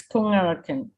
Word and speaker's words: Kungarakan: I mean, is that pronunciation Kungarakan? Kungarakan? Yes, Kungarakan. Do you want to tell us a bit about the community?